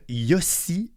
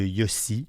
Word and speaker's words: Yossi: Alors, je veux vous parler du film Yossi et Jagger. Ça s'écrit comme ça se prononce, Y-O-S-S-I, et Jagger comme Mick Jagger, du réalisateur Eitan Fox, un cinéaste gay israélien né à New York.